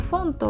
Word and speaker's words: Phonto: になりますでフォントはですねこのつづりでヘッドフォンとって読むみたいなんですけどあの